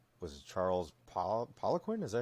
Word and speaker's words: Poliquin: So like was it Charles Poliquin? Is that how you say his name? Poliquin.